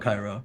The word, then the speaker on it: Cairo: In Cairo, or Cairo, but it's Cairo, but it's spelled Cairo.